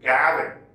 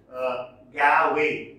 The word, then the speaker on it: Gawain: Some pronounce Gawain, see? Pronounce it Gavin. Others pronounce it Gawain. Gavin or Gawain. Whatever you find suitable, you can adopt.